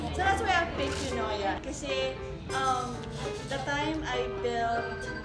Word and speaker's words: Eunoia: Can you tell us something about Eunoia Coffee? First, how to pronounce it.